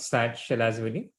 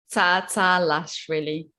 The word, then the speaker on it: Tsatsalashvili: You don't pronounce the T part. And you pronounce my last name. Wow. I mean, it's just Lashvili. No, there's no. It's not Sat Shalashvili. Tsa Lashvili. I think you pronounce T in both times.